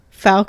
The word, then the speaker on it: Falk: But it is Falk. Falk is correct.